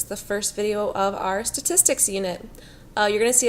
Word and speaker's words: statistics: The first video of our statistics unit. You're going to see a couple words spelled out phonetically for you down here. Statistics is this word. It's pronounced tis, ticks. Tis, ticks.